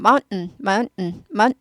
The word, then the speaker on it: mountain: mountain인데 고급 발음을 하시려면 mountain 여기 이게 스타카토가 돼요. 스타카토하고 딱 mount 하고 딱 끊고 un이 되는 거죠.